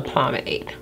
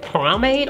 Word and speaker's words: pomade: a pencil versus a pomade pomade y'all know i've been calling it primate all this time and the reason i found out it was not promate because obviously i could